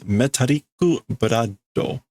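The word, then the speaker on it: メタリックブラッド: cool English words here, and we get the way to pronounce them in Japanese as though they were English, or the English words as though they were Japanese. Metariku brado.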